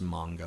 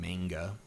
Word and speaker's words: manga: And it is pronounced manga, by the way. I know a lot of Americans favor saying manga, but that's apparently wrong.